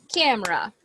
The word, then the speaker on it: camera: two syllables CA C so this letter e this letter e doesn't have a sound she is nosis she has nothing to do over there with the pronunciation camera cameraa Cera cameraa